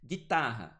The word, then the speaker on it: guitarra: Guitarra, esse U também não é pronunciado.